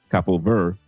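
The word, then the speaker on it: Cabo Verde: episode tonight, especially since Capo Verde or Capo ver Ver, how they pronounce it, Capo Ver, uh, the the D and the E is silent in Portuguese team is playing tonight against Argentina.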